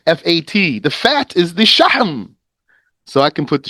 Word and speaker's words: شحم: Shahm. Not shaham or shahim or shahum. It's shahm.